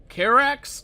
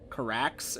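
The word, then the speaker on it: Karax: hell yeah KX carax it's carax I was just thinking because I thought this previously whenever I talked about this guy I pronounce his his name slightly off I think I say like CarX and it's carax I think I don't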